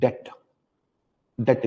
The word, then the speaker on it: debt: Okay, first category is debt instruments. Debt instruments, DEBT, debt instruments. Now of course B is not pronounced, so ये English language का बड़ा problem है.